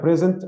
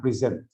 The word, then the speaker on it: present: is the second syllable it's like present and present at the same time for example